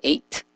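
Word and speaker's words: את: pronuncia Et como Etiopía, no, se pronuncia, vemos aquí, se pronuncia, qué casualidad, se pronuncia Eight, pero el principio es una vibración distinta al Eight que es escrito con el Ain.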